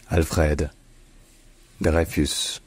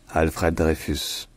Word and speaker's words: Alfred Dreyfus: of Espionage and anti-Semitism in French his name is pronounced Alfred Theus alfredus Alfred Theus alfredus all